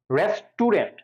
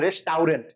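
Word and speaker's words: restaurant: রেস্টুরেন্ট আমরা কি উচ্চারণ করি? রেস্টুরেন্ট, আসলে কিন্তু রেস্টুরেন্ট আছে, রেস্টাউরেন্ট। দেখো রেস টাউরেন্ট, খেয়াল করছো কিনা? রেস্টুরেন্ট কিন্তু না, রেস্টাউরেন্ট।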